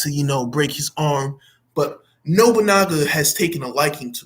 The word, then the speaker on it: Nobunaga: And then as soon as Nobunaga. Nobunaga.